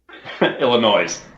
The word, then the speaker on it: Illinois: Illinois. No S at the end. It's silent. The S is silent.